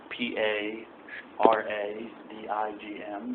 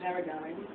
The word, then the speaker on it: paradigm: you could say it PA r a d i g m the g is silent I won't write it on the board because I'm assuming you're listening Paradigm Paradigm God bless you woman